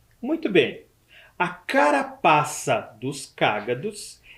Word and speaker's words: cágado: o nome dele é cágado Observe o assento na primeira sílaba cágado eu tenho certeza que